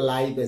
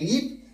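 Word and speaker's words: live: তো আপনি দেখেন বানান কি এল আই ভি ই, একবার যখন আমরা উচ্চারণ করতেছি লিভ সেটার অর্থ বাস করা, আর যখন আমরা উচ্চারণ করতেছি লাইভ সেটার অর্থ সরাসরি সম্প্রচার।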